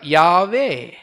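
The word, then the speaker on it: Yahweh: பட் அதுக்கப்புறமா இது எப்படி சொல்லணுன்றதுக்காக, ப்ரொனவுன்ஸ் பண்ணுன்றதுக்காக வவல்ஸ் ஆட் பண்ணாங்க. வவ்வால் இல்லை, வவல்ஸ்னா என்ன அர்த்தங்க? ஏஇ அப்படி ஆட் பண்ணி என்ன சொன்னாங்க? யாவே.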